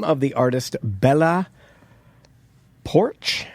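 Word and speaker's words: Poarch: Uh the name of the artist, Bella Porch, I think that's how you say it. Porch. It's got an A in there, so it's longer.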